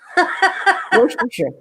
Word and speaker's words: Worcestershire: Worcestershire. Worcestershire. Okay. We don't pronounce the Shire.